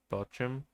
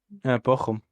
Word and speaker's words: Bochum: Bethlehem picks with uh, how do you say that? Just Bochum? Bochum. Bochum. Okay.